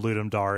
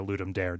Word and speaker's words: Ludum Dare: in particular they're from ludum Dar or ludum Dare depending on which which pronunciation you adhere to as correct so like 72h